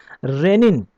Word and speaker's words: rennin: दोनों का प्रोनाउंसिएशन जो है वो सेम है, लेकिन इसकी स्पेलिंग अलग है और उसकी स्पेलिंग अलग है।